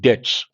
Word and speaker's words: debt: states have unsustainable public debts they have debts not to some extent to a great extent based on that intangible Surya based on that unsustainable debts the letter B is silent both states have unsustainable